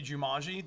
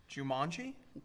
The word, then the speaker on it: Jumanji: do you say it Jumanji okay how do you say it do you mock Jumanji what you're you say Jumanji yeah a little bit more you're putting an emphasis on the last okay so Jumanji yeah